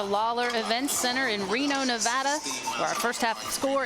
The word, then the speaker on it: Nevada: Nevada. Nevada. While the students here at the university know how to pronounce the school's name right, for those of